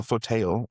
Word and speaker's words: Photael: P-H-O-T-A-E-L, photail, like Photovoltaics. kind of, yeah, like Raphael, but with photo.